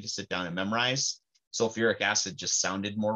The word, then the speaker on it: sulfuric: If you have both of the hydrogens there, it's not just sulfic acid. It actually gets an extra syllable thrown back in there. So it's actually sulfuric acid.